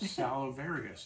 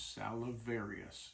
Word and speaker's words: salivarius: into that look up salivarius it's spelled just like it sounds salivarius so check that out